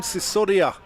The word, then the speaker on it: Sisodia: Luke Charlesworth for Gloucestershire and Prem Sisodia. That looked like for Glamorgan. When you asked how to pronounce his name, just say it's like Susudio.